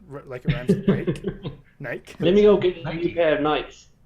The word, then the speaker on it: Nike: Like it rhymes with Nike. Nike.